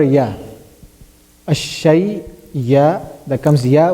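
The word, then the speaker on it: ي: Ya is pronounced from the middle of the tongue.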